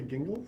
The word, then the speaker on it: Gingles: I always called it jingles, but you say gingles? Is that right? I believe I believe it is pronounced with a hard G, but I won't bet the farm on that.